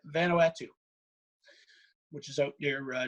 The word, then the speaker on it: Vanuatu: polynesia in south pacific how do you pronounce mana no vanna atul venatica n-u-a-t-u something along those lines yeah vanuatu which is out near